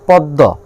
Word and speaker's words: পদ্ম: যেমন হলো পদ্ম, পদ্ম শব্দে মফলা দ্বিতীয় বর্ণের সঙ্গে বসেছে, মানে দয়ের সঙ্গে বসেছে, অর্থাৎ এখানে ময়ের উচ্চারণ হবে না, কিন্তু যার সঙ্গে বসছে দ তার উচ্চারণ হবে দুইবার।